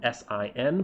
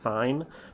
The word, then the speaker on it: sin: sign is traditionally written s i n but it's not pronounced sin it's pronounced sign because the the the